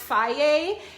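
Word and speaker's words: Fage: this one right here which is pronounced faye and it has um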